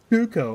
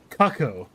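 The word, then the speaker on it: Cucco: His name is Cuckoo, or how I used to pronounce as a kid. Kako.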